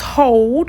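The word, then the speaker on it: HODL: going to see um it's pronounced hold of course it's spelled h-o-d-l because it actually is an acronym um and it stands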